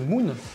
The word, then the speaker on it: MU:N: lire en phonétique du moins bien sûr de prononcer Moon de la bonne manière qui parle le langage